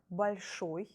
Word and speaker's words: большой: If accent, stress is on the ending, like большой, большой, you see the capital letter O. I wanted to show you that this vowel is stressed.